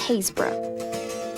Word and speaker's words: Happisburgh: Our final property was back towards the coast in a town spelt like this, but pronounced Haze-br'h.